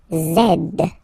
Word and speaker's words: zed: the last one zed Zed okay so remember to pronounce this D at the end zed zed okay so let's see